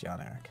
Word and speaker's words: Jan Erik: And it's pronounced Jan Erik.